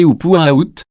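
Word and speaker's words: Upuaut: télécommandé à chenillettes, nommé Projet Upuo, prononcé Upuaout, porta essentiellement sur le conduit sud.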